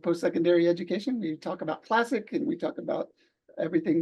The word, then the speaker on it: CLSC: What we pronounce as CLASSIC, the acronym.